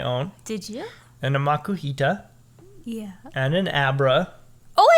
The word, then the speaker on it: Makuhita: Yep, makuhita.